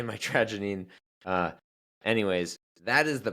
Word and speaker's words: mitragynine: 40 active alkyoids but the predominant one is called mitrogenine or metroinine depending on where you're from and how you say it. Um I like to say my tragine uh anyways that is